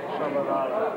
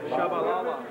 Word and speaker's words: Tshabalala: How do you pronounce it? Shabalala. Shabalala. Shabalala.